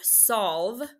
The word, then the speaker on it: solve: So this E is silent as I cross it off, and this O is still technically short. So the word solve is still closed.